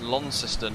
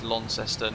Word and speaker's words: Launceston: Massive Simulation says if you're from the north, it's Launceston. If you're from the south, it's Launceston. If you're from Tasmania, it's Lonnie.